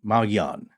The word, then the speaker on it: Mogollon: and as we said modern residents Now Pronounce it mongan or mongan sometimes you hear a little bit of an n in there that's one we don't